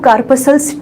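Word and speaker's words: corpuscles: करें तो यहाँ पे इसका जो प्रोनाउंसिएशन होता है वो कार्पसल्स ठीक है।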